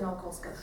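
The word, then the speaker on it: Nałkowska: And this is the latest one that I've published, Zofia Naukowska Szuka, that's how it's pronounced.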